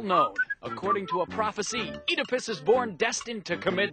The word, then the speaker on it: Oedipus: this guy's name pronounced edus but we pronounce it edus why because we like it that way actually it's because this pronunciation is more true to the Greek original edus Rex a tragedy